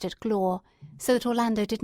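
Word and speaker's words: gloire: Divine ambition which he might call lir he pronounced it glore so that Orlando did not at first catch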